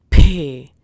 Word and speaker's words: P: Now comes the letter P, which is pronounced as Pay. Pay. So always remember this thing that it is not pay of English, but rather pay. So for this, maybe you can take a piece of paper in front of your mouth, and if the paper moves, pay, then you're pronouncing this letter correctly.